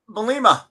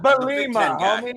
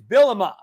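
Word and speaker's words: Bimba: was it Brett is is it bimma am I saying it right bimma Brett bimma thank you back where he belongs in the big not bomie it's not it's not a disease it's BMA holy I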